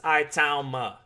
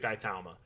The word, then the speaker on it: Itauma: Moses Itauma.